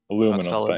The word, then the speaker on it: aluminum: That's how it's spelled. Aluminium. Aluminum.